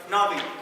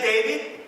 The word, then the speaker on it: Navi: time in a while people pronounce my name right navi how hard can it be to pronounce me you know i went to the office okay i went to the office right okay so pressing it no my name is not he's like davey so yeah it's seriously